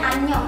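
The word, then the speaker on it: 안녕: Misalkan kalian mau nulis anyong, itu kan ada angnya ya, karena kira tulisin aja deh. Misal oke, ini dibacanya anyong ya. Kalian bisa lihat kan, ini di sini dia itu fungsinya buat ngebantu si huruf A buat bunyi.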